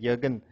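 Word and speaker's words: Jürgen: who what's your name Jurgen Jurgen ju r g ju j ee r GN sounds like a German name Jurgen Jurgen yeah you're good that's a German we have pronouncing it yogen so anyway what from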